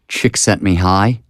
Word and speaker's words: Csikszentmihalyi: Mihai Csikszentmihalyi.